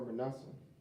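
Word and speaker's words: Manasseh: go ahead go ahead and he said for Manassa all right so that's how you say it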